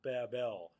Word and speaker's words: Babel: be the Tower of Babel, or Babel, as it's often pronounced.